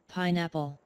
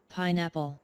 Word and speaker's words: pineapple: Cái này đọc là pineapple. Các bạn đừng đọc là pineapple nha. Đúng đồng nghĩa là cái nửa chữ sau đó, nhìn giống chữ apple ở táo đó, nhưng đừng đọc là apple. Mình đọc nối vô pineapple, pineapple.